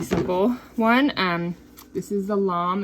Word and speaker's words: lame: This is the lam. It's called a lam. It's spelled like lame, but it's actually pronounced lam.